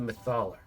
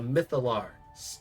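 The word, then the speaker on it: Mythallar: siphoning it through the mythaler. Oh man, I always pronounce it like that. Ah, the mytholar.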